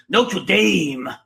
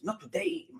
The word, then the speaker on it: Notre Dame: to this from America I don't mean not to damn I mean Notre Dame because that's how you say it I know I know I've seen university basketball games not a date so you know how